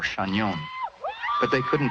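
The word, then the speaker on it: Chagnon: know my name I told him that it was shagnon or chanyeon but they couldn't pronounce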